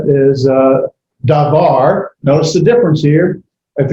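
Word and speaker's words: דָּבָר: be and what we've already said is uh davar notice the difference here if you go up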